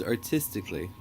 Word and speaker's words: artistically: offerings yeah nice job the word is artistically artistically yep so the stress is on that second teeth artistically tasty okay so what